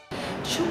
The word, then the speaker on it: Xul: Schulz Solar. Schulz está asociado con Schulz, la pronunciación de su apellido paterno, y Solar es una abreviatura de Solari, el apellido materno.